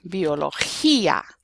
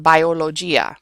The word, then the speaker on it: biología: So, for example, gel, which is gel, or biolo, change this to an accent, biología. Okay, it's not biologia, because remember we always pronounce the vowels the same too, so it's biología.